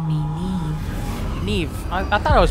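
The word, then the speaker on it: Niamh: here in this place you may call me Neeve Neeve I thought I was pronouncing it right you shall be witness to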